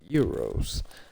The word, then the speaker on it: gyros: Um I pronounce them gyros. Um but um other people pronounce them euros.